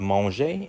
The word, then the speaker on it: mangent: Now you're not going to pronounce this ENT. You're not going to say on. You're not going to say ils mangent. You're going to say il mange. It's silent, right? You don't pronounce the NT at the end.